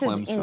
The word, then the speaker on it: Clemson: This Clemson. is You're putting a P in the word.